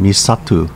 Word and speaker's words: Misato: with the merger of koza and misato pronounced koja and misatu respectively in uchinanguchi nanjo